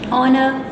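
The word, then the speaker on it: honor: एच इज़ not pronounced at the beginning of many words, कुछ ऐसे words हैं जिनके शुरू में भी जो एच है वो साइलेंट हो जाता है। आवर में अगर आप बोलते हो ओ की साउंड आती है, आवर, ऑनेस्ट, ऑनर, एयर, अर्थ, तो इसमें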